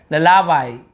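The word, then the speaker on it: lullaby: क्या लिखा हुआ है, ललाबाई, ये ललाबाई, लुलाबाई ऐसे बोलेंगे इसे हम, ठीक है। तो ये थोड़ा सा अटपटा उच्चारण है, ललाबाई, ऐसे ललाबाई ऐसे पढ़ेंगे।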